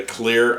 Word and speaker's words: Cleer: here tonight with my first impressions of the clear audio next and this is the first headphone